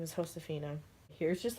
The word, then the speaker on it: Josefina: And that's how you pronounce her name, is Josefina.